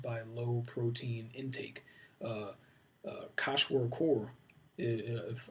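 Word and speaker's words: kwashiorkor: a low protein intake kosh work or if I always mispronounce that but I think it's pronounced Koch work or is a disease prevalent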